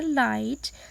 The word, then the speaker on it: light: Light, then H is silent here.